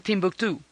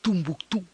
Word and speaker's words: Timbuktu: Entonces, se pronuncia de muchas maneras según quien lo esté pronunciando. Para muchos para los ingleses y los árabes lo llaman Timbuktu. Los franceses lo llaman Tumbuctú. Tinabactú es como le dicen los tuaregs.